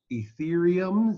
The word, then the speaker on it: Ethereum: And so we've decided to do the next couple of shows about Bitcoin, Bitshares, Ethereum, that's how you say it, Yeah.